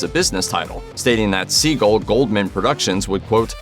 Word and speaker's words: Seagal: as he's been famous Steven pronounced his last name like this my name is Steven Sagal however it turns out that he and everyone else have been wrong to say it this way the name like Seagal's paternal lineage is Jewish and usually pronounced similarly to seagull reportedly there are a